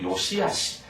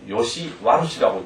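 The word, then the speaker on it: 良し悪し: 아 키바와 요시아 요시아 잘 읽는데 조심하세요 요시하시 이걸 요시 혹여 요시 루시라고 읽지 않도록 요시하시 하 옳고 그런 것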